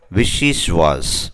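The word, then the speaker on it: vichyssoise: அடுத்தது ரொம்ப tough word, விஷி ஸ்வாஸ், விஷி ஸ்வாஸ், இதை எப்படி ப்ரொனவுன்ஸ் பண்ண நீங்கள் போட்டிருக்கேன், விஷி ஸ்வாஸ்.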